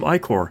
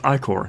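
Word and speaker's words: ichor: can give you some iCore by the way it's pronounced I Corr I'm like right I never remember to pronounce that thank you for reminding me it's I Corr and then I read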